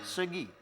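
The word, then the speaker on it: 서기: Segi, kuda-kuda. Oh, segi. Iya, Bacanya segi.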